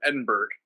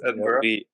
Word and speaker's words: Edinburgh: like you said, Bryce, you pronounced it all wrong. I did the same thing. I said Scotland, Edinburgh. Of course, it's Edinburgh.